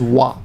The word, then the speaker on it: は: sometimes but when it's a topic marker you pronounce it as wha you easily you'll get used to that quite